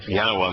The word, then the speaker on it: Yahowah: So the Y sound at the beginning and the Ah sound at the end were certain. Then I looked at Heys in the middle of the word, and it was about 98% of the time that you find a Hey in the middle of the word, it's pronounced Ah.